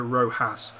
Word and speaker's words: Rojas: Look at that ball out to Rojas. I believe it's Rojas and not Rojas, as I say. The J is actually pronounced as a H, so is it Rojas?